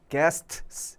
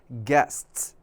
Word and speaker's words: guests: 않아요 그렇죠 guests 그래서요 t 뒤에 S 붙어 있는요요 상황요 상황이 좀 발음이 좀 어렵거든요 그래서 츠 소리가 난다 그래서 guests 이게 아니라 guests 뒤에 소리가 나죠 guests 그래서 strategies guests